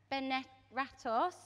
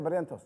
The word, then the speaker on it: Barrientos: All right, Andreas Benerratos. Is that how you pronounce his name? Andres Felipe Valencia Barrientos.